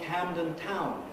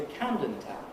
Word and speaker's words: Camden Town: camden town camden town now all names like that something town will have stress on the town london town canning town and so on this visitor got into a cab and asked to go to camdentown putting the stress on the first element camden town and i